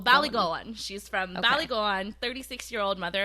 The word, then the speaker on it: Ballygowan: It's like Ballygowan. Like, they really like slide that last like "goan" in there. So Ballygowan.